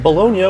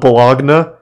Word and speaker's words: Bologna: In 1296, Bologna invaded and took a couple territories from Modena, which their buddy in the papacy confirmed to be legitimate. Is this not pronounced Bologna? This is 100% pronounced Bologna, right?